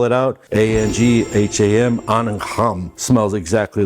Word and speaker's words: Angham: So this one, I spell it out, ANGHAM, Anham.